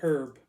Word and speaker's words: herb: the showers on the herb," or herb, some people pronounce it with a silent H.